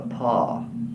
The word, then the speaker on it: Paugh: And she was the daughter of Edward Boyle and his wife Bertha Paugh.